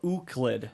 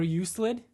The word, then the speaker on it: Euclid: Or Euclid. Or Euclid. We just went back to not knowing. It's Euclid. It's Euclid. Yeah. Like eucalyptus. No, like you and then Clid.